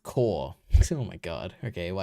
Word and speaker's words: cour: Core. Core? Why is it a core? There's a U. Isn't it? Oh, you got a U in there? Cool.